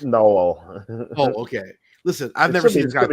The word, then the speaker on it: Noel: Am I pronouncing his name right? It's Noel.